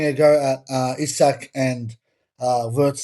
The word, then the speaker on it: Wirtz: Anyway, Florian Wirtz, remember, Wirtz. You gotta say it like that, Yes. Wirtz.